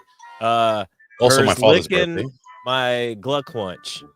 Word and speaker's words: Glückwunsch: My Glückwunsch. That's how you say it in German.